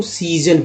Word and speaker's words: season: इसको इस word SEASON को सीजन पढ़ते हैं। दूसरा एस जो है ज के रूप में उच्चारण हुआ, एक बड़ी के रूप में हुआ, सी और एन से ना हो गया, सीजन।